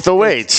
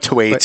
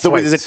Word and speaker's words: Thwaites: No, it's the weights. Thwaites. No, it's not Thwaites. It's the weights. There's an H in there.